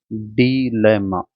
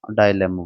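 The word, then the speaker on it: dilemma: डीलेमा डाइलेमा बोलते हैं इसकी स्पेलिंग याद कर लो एक बार।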